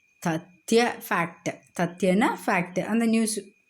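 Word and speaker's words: तथ्य: When the last letter of a word is conjunct, it is pronounced fully.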